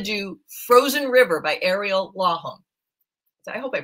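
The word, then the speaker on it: Lawhon: Frozen River by Ariel LOM I hope I pronounced it right it's l aw n yes um and it's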